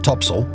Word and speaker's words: topsail: Her large, square sails included the forecourse, fore topsail, pronounced topsail, and fore topgallant sail, pronounced foretogarnsail.